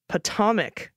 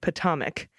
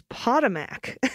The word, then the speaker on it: Potomac: my kids said something about the the potam Potomac River rhymes with atomic Potomac but with a short o sound the other responded that's how you say it I thought it was potamac stress on the first syllable Potomac long o